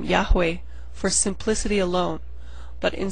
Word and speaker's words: Yahweh: the name should sound the majority of Scholars do agree that the name Jehovah is an impossible pronunciation of it particularly since the sound Jade does not exist in Hebrew Scholars have agreed to